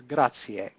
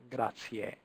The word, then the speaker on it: grazie: So the only thing I'd like you to remember there out of all of this is grazie, grazie. Just that e at the end.